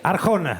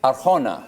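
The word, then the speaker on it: Arjona: A R J O N A Arona. See Arona. Yeah, there you go.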